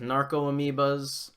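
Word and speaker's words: Narcomoeba: I like Pyroclasm as a tempo play against Dredge, because it deals with Narc-amoebas is the correct way of pronouncing that card.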